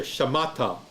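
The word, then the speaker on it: שָׁמַעְתָּ: So now you're going to say in syllables, sha, that's right here, sha. Second syllable, ma, which has the emphasis, ma, and then ta, right there, shamata. So even though this looks like a 4-syllable word, it's really just a 3-syllable word because of the guttural and the silent shewa.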